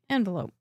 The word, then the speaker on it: envelope: Just has a different accent on a different syllable. Envelope.